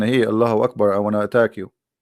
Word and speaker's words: Allahu Akbar: So when a Muslim he says Allah, you notice he pronounced something. He say Hu Akbar, correct? Hu Akbar. But when they say it, but they don't write it. Hu Akbar. Allahu Akbar.